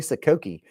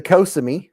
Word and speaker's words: Kosami: I'm going to be sending this one and it is a I always say it wrong. I was going to say saki. This is the kosami.